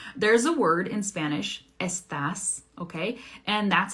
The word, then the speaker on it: estás: But in Argentina, they don't really pronounce that S very strong, right? They say estás, estás.